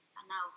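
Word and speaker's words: whānau: Fanau, porque la W y la H la pronuncia como F.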